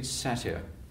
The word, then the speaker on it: satyr: But the way that she writes it is satyr. Yeah. Rhymes with flatter.